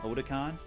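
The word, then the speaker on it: Otacon: Otakon. That's how it's pronounced properly.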